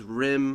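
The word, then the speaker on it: Rime: And then there's Rim, I think it's pronounced. It's R-I-M-E.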